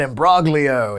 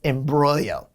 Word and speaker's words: imbroglio: Next up is Imbroglio. That is how you say it, right? It's almost like, is that Imbroglio? It's like a brother of broccoli, but no, it's Imbroglio.